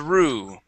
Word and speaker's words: through: to the word three through okay the o u g h okay makes an ooh sound the G and the H are silent through through good the